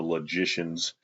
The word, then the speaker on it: logician: probably chapter 10 the logicians it's logic but it's pronounced logician like magician almost a deduction induction fallacy